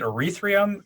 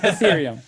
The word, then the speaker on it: Ethereum: do anything else but is it erythrium ethereum how do you how do you pronounce that eth pth ethereum ethereum okay so eth i i